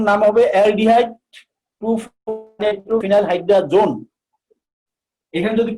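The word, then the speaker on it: hydrazone: খেয়াল করো আমি এখানে বলছি হাইড্রাজিন, কিন্তু এখানে নামের শেষে হাইড্রাজোন, হাইড্রাজিনটা হাইড্রাজোন হিসেবে উচ্চারণ হবে।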